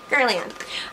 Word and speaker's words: Guerlain: Next thing here is from, how do you pronounce the brand again? Guerlain.